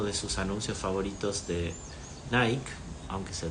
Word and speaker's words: Nike: hecho en uno de sus anuncios favoritos de Nike aunque se pronuncia Nike dice he fallado más de 000 tiros al